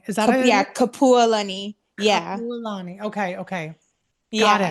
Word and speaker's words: Kapualani: So Kapualani, why don't you introduce yourself and let the audience know who you are and a little bit about you?